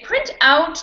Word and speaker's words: print out: print out that paper so if you wanted to use it as a verb you could you can say print out that paper and the stress would be on out or i can say